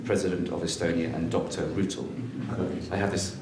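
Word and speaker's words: Rüütel: Rutel. I have this pronounced correct?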